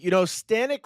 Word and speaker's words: Stanek: And, Stanek rhymes with panic, and Mets fans, I feel like some of you are panicking right now.